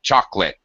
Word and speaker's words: chocolate: Most native speakers would pronounce it chocolate, as in 2 syllables.